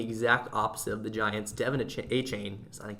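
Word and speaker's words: De'Von Achane: been playing the exact opposite of the Giants Deon achain I how he pronounces it Devon a chain and Raheem moer have just been lighting it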